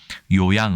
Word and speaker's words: 요양: 원래 는 ' 치료 하다 ' 라는 뜻 의 한자 ' 료양 ' 이었지만 , 첫 글자 의 발음 규칙 때문 에 ' 요양 ' 이 되었습니다 .